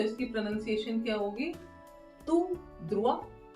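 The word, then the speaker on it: tout droit: रास्ता है इसको हम फ्रेंच में क्या बोलेंगे तू ध्रुवा तू ध्रुवा अब देखिए ध्यान रखने वाली बात है इन दोनों की सेम स्पेलिंग है बट थोड़ा सा डिफरेंस ये है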